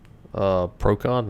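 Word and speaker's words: Procan: Procon, is that how you pronounce that?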